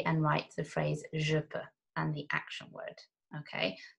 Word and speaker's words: je peux: Je peux. Je peux. Très bien. So, je peux means I can. Okay? And have a look at how it's spelt. You will see the X is silent.